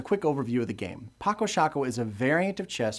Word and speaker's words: Paco Sako: The proper pronunciation is, and I hope I get this right, Paco Sako. But I think the makers got tired of correcting people, so the common pronunciation now is just Paco Sako.